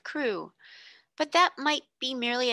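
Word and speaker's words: Crewe: the name madame pascal pronounced it as if it were karu instead of crew but that might be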